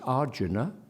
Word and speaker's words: Arjuna: whether correctly or not it's Arjuna the stress on the first syllable there fleebus not Flay